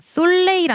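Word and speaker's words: soleil: 자 태양가 보겠습니다. 솔레이라 아닙니다. 솔레이 약간 약간 기가 죽어야 돼. 솔레이 가족도 미가 죽어야 돼.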